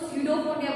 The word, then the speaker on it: pseudopodia: मैं वापस से बोलूं, इसको pseudopodia बोलेंगे, P इज अ साइलेंट.